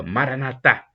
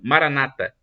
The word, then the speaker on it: Maranatha: como dizem os católicos os católicos dizem como a tônica na última sílaba Maranata mas os protestantes também falam Essa palavra só que eles colocam a tônica na penúltima sílaba Maranata o significado é o